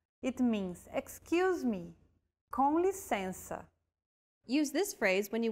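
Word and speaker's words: com licença: useful phrase of all it's to excuse yourself conlisensa it means excuse me conlisensa use this phrase when you want to grab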